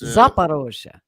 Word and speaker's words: Zaporozhye: Did I pronounce that right? Zaporozhye, yeah, it's Zaporozhye.